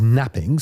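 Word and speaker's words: knapping: This was known as napping, spelled with a K, and it involved crushing stones in the prison yard.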